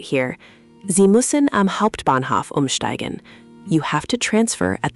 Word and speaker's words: Umsteigen: Umsteigen means to transfer or change trains. This one saved me so many times when I was learning to navigate Berlin. Umsteigen. Umsteigen?